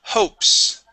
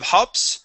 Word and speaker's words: hopes: Okay, the word hopes. Okay, instead of hops, ho, hopes. Ho, hopes. Very hopes.